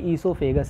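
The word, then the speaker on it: oesophagus: भी स्पेलिंग सही है, और प्रोनंसिएशन भी ईसोफेगस ही बोलते हैं, वो साइलेंट होता है, क्लियर है?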